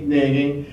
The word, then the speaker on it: Nagy: How do you pronounce this? Nagy, who is a long-time Downriver resident.